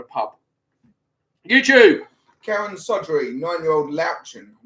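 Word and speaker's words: Löwchen: Karen Sodry, 9-year-old Louchin. I've not heard of Louchin. Have you pronounced that correctly? Lotion? It's not lotion. Lao Shen.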